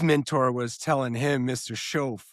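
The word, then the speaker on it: Shoaff: Schoaf. It's Show, chauffeur. yeah, show.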